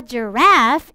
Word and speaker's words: giraffe: A giraffe is on the phone.